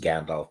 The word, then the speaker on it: Gandalf: Oh, it's actually pronounced Gandalf, but they often add an R to the end of stuff. And in Old Norse, usually if it's plural. So if you think of it as Gandalfers, right?